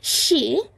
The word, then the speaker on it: そう: Okay, so Uenoyama has ended his support, as in, like, he's stopped playing support for she, which is the way to pronounce SOH. It's pronounced she.